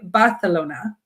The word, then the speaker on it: Barcelona: So we will go, and the language I understand is mostly the same, except you say Barcelona. Huh. Everything is like S's are pronounced with the TH.